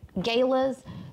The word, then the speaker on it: Galas: elaborate Gala Galas let me say it right Galas for nonprofit events weddings corporate events I can